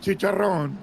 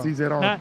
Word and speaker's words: Cicerone: How do you say it? Cicerone? Not chicharrón. Chicharron. Cicero. I said Cicero. Cicerone. Not chicharron.